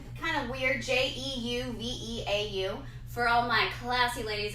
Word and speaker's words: Jeuveau: Jeuveau. It rhymes with hello.